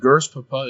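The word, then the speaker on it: GRSPP: ahead go over what the gers papa is gers Papa is of course G RS p p is pronounced gers Papa in that sense for goofiness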